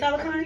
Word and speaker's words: Talokan: Talokan.